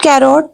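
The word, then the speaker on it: carrot: गाजर को इंग्लिश में कैरेट कहते हैं this is नॉट कैरोट नो वे the word will be कैरेट the word will be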